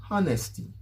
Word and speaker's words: honesty: to call the word honesty honesty instead of honey in french guys remember that the h is silent okay honesty honest the